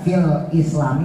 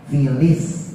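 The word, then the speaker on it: في الإسلام: Kadang orang baca fil islami dibacanya fil islami. Jadi lamnya nggak jelas. Ya, tulisannya fil islami, tapi dibacanya filis. Jadi lamnya digabung.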